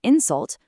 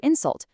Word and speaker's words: insult: It's a record versus to record, or an insult versus to insult.